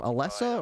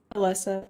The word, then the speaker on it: Alyssa: So, how do you say your first name? Alessa or Alyssa? Alyssa. Alyssa.